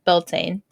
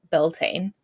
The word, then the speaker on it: Beltane: of didn't even and even Wikipedia like pronounces it Beltane yeah like Britannica a few different YouTube videos too and they all said Beltane yeah did you did